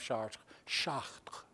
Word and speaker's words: Chartres: In Chartres Cathedral, which is was built in 1145, in Chartres, France, the town of Chartres, that's how they say it.